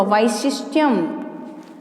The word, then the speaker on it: वैशिष्ट्यम: व में आई की मात्रा तो उच्चारण भी वाई इस तरह से होगा, वैशिष्ट्यम।